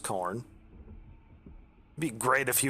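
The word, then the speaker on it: Khorne: not like a stockacorn k-h-o-r-n-e i think i think it's pronounced corn it'd be great if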